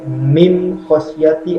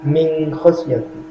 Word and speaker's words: min khosyati: Tidak boleh dibaca mim khosyati atau dibaca samar min khosyati. Yang betul adalah min khosyati.